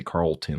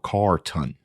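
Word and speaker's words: Carton: his name right carlton i'm gonna say carlton like there's l in there but it's called car ton if i say carl 10 my bad carlton i hear some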